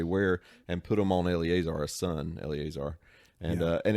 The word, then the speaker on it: Eleazar: Eleazar up to the mount and basically takes the